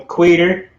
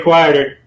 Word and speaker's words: Queter: And remember, it's Thomas Daniel Queter. You said it right. Queter, never quitter, rarely quieter.